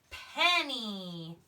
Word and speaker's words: penny: alright our next word penny a penny is worth one cent pen me pup mmm-me that why is making the long e sound he's stealing that e sound in two syllable words Kenny alright one more